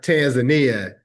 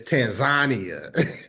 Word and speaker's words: Tanzania: I I can't tell the whole story, but but it's not Tanzania. It's Tanzania. That's how they say it.